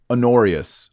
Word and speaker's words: Honorius: mysteries and aureus H oh that's how you say it on aureus Pope Honorius it's like honor with es on the end a dishonorable man Anathem